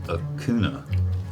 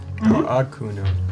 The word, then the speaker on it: Hakuna: I thought it was a kuna. Hakuna. Hakuna.